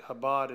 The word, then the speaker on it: Chabad: time to explain it Habad is spelled Chabad ch ABA D Jarrod's